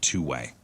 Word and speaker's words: 2WAI: It's 2WAI. It's pronounced Two Way.